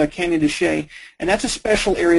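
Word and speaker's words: Canyon de Chelly: the map that's called cany toay looks like cany delli but it's pronounced cany toay and that's a special area it's a safe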